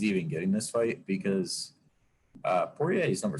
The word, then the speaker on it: Poirier: But I mean, Dustin Poirier, is that how you say his name?